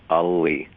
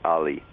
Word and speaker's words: Alli: It is when it's pronounced in the Finnish way, which is to pronounce both L's, so it's Alli.